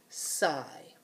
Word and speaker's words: sigh: So, in this word, the GH is silent. It's not making any sound.